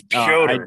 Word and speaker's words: Petr: It's not Peter. His name is not Peter. It's Per.